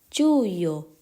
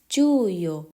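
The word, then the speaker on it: Giugno: กัน ที่ เดือน ถัด ไป นั่น ก็ คือ จู้โย จู้โย มิถุนายน เดือน นี้ เด็ก นัก เรียน ก็ เริ่ม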